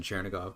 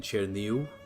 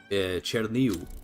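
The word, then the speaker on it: Чернігів: Or as it's pronounced in Ukrainian, Cherniu. I think that's how you do it. Ukrainian's weird because these V's are more like U's at the end of words. So it's like Cherniu, I think is how you'd say this in Ukrainian.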